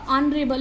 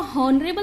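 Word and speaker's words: honorable: यहाँ पर देखें ये जो एच है, ये एच यहाँ पर साइलेंट है, ठीक है। स्टार्ट तो ये एच से हो रहा है जो कंसोनेंट है, लेकिन जब आप इसको बोल रहे हो तो ये साइलेंट है, इसकी कोई ध्वनि नहीं निकल रही है। ये स्टार्ट कहाँ से होगा, ऑनरेबल। इसको हॉनरेबल नहीं बोलेंगे, इसको क्या बोलेंगे, ऑनरेबल।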